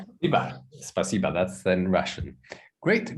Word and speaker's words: спасибо: Spasiba. How? What? Emily? No, Peter? Yeah, but with accurate accent is better. Really? But you don't have accent with spasibo. Spasiba.